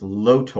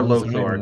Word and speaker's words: Lotor: Lotor. Or Lothor, depending upon who is pronouncing it.